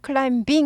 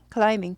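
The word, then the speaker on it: climbing: 걸 이렇게죠 라가음 올라가던데 B 무음이에요 클라비 하지 않고 클라밍 아예 발음 안나요 그래서 클라밍 클라이밍 B 무시합니다 클라밍 클라밍 클라이밍 클라이밍은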